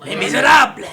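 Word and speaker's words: Les Misérables: Not really sure how to pronounce that play. You did it. Is it? Les Miserables.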